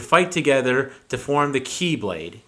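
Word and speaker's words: χ-blade: It turned into Ventus and then Vanitas, who would fight together to form the Keyblade. Key spelled like X, like C-H-I.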